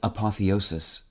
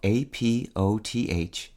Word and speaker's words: apotheosis: the Day for March 13th today's word is apotheosis spelled a-p-o-t-h-e-o-s-i-s apotheosis is a noun it means the perfect